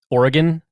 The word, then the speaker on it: Oregon: I'm assuming is Oregon and it should be pronounced Oregon that's right and that was with Wes gabrielson